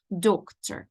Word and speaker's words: doctor: в слові дюктер are остання не читається оу читається як е і виходить Doctor I can't Зверніть Ага так живіт болить до